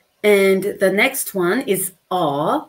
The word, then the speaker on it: 어: And it's pronounced 어.